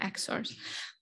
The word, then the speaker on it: EXor: prototype EX Loopy, but to rhyme with Fjord, he named them EXORs.